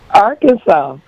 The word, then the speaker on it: Arkansas: I don't see a r ks a w, you know, Arkansas. I see sas or Kansas. So, what is the proper way to say it? Arkansas. No But yet, it's SAS or Kansas. I know it. I would have thought it would have had a SAW.